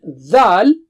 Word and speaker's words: ذ: For the three letters tha, dal and dha, the makhraj is same. That is the same spot for pronouncing them. So what is the difference? In dhal, what you do is blow with a strong sound.